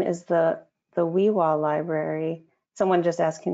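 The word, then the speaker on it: Xwi7xwa: And that's pronounced the WIWA Library. WIWA.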